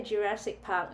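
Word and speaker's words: ジュラシック・パーク: First question: how do you say Jurassic Park in Japanese? Jurassic Park. Again, Jurassic Park. Jurassic Park, something like that. All right, so you break the C and the K out into its own syllable.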